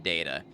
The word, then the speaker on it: Data: taken some concentration huh there is literally an episode where data explains to someone how to pronounce his name they ask what the difference is between data and data and he says one is my name the other is not it's always been data